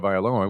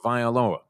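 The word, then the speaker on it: Tagovailoa: Lee Steinberg told us it was Tangga Violoa. No, he said it wrong because everyone since him has said a totally different There is no N in there.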